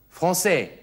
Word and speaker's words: français: spre parle parle franis sie sehen das kleine Zeichen unter dem C von franais Li bedeutet nur dass das C nicht Vik ausgesprochen wird sondern wie s also franis lesen Sie mal was